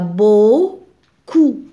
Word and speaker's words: beaucoup: beaucoup alors c'est faux il y a beau coup eau se prononce o donc beaucoup de médailles médaille chez